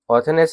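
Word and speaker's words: Orthagnes: एक ऑर्थनेस थे ऑर्थोनेस ये जी साइलेंट हो जाएगा ऑर्थोनेस और एक थे पाकोरेस।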